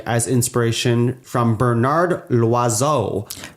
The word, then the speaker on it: Loiseau: And the last one I have here is that Gusteau was taken like as inspiration from Bernard Loiseau. L'oiseau? Loiseau. L'oiseau. Which means bird.